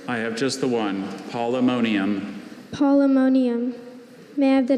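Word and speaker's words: Polemonium: Are there any alternate pronunciations? I have just the one, polymonium.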